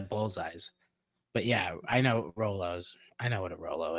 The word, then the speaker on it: Rolo: top five of candies yeah Roos oo proun pronounce Rolos but I say Roos yeah I knew what you meant um I